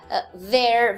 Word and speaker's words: their: Their, veja a pronúncia, é their mesmo. Igual their de there, it's there.